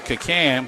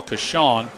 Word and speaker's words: Kacan: It's Joel Kashawn. We do appreciate Robinson gave us a pronunciation guide on some of the players, and that is exceptionally helpful. Joel's last name is spelled K-A-C-A-N, Kashawn.